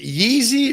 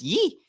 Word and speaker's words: Ye: oh yeah is it yeezy or wheezy kanye west it's yi it's not yeezy i don't know he